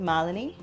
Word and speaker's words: Malini: was coming home so how do you say my name m a l i n i I say it malan that Indian from India